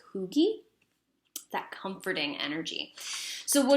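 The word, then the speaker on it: hygge: candlelight what is it it's pronounced okay so it's hyg GE but I actually think it's pronounced like cooky that comforting energy so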